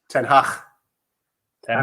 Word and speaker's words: Ten Hag: Ten Hag.